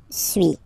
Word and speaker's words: suis: So first one, suis, as you've been noticing, you don't pronounce the final S, okay?